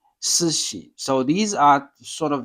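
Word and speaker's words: 寿司: So in English, when we say, oh, we eat sushi, so it's sushi, but in Japanese, it's not really, it's sushi, it's a sushi.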